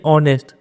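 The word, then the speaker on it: honest: नहीं उसी तरीके से यहां पर देखिए ऑनेस्ट बहुत बच्चे क्या करेंगे एच देखेंगे सोचेंगे एच कॉन्सोनेंट है तो ए लगा देंगे यहां पर लेकिन वो गलत हो जाएगा इसका प्रोनाउंस देखिए साउंड कैसा निकल रहा है तो उसको आप ऑनेस्ट प्रोनाउंस करते ओ साउंड प्रोनाउंस करते है तो ओ भवेल है तो यहां पे एन लग गया उस समझे कि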